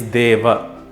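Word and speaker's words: देव: If you thought Dev, you're only partially correct. It is Deva.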